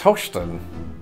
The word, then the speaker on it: Houston: It's Houston. Is that because at one time people in the South sort of pronounced that O sound as an O sound and it just evolved?